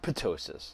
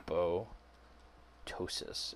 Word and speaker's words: apoptosis: called apoptosis unless hey you pronounce that a po or a po ptosis not puto psious that's pious silent right so it's a po ptosis and this is programmed